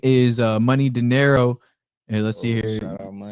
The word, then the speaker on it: Money Dinero: But yeah, you can pronounce his name as Money Dinero.